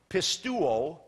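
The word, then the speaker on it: πιστεύω: When you have the omega ending, that's that W kind of looking thing, the omega ending, which is a long O sound, pistuo, that long O ending is the word I.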